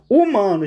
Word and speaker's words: humano: Humano, gente, tem dígrafo aqui? Não tem. Ó, o H é o famoso H mudo, né? Ou seja, ele não é pronunciado, então não ocorre representação fonêmica dele.